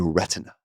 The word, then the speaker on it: retina: The retina retina specialist, they uh they pronunciate the T, the retina.